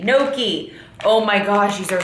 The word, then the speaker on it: gnocchi: I think, yeah, you don't say the G. Gnocchi.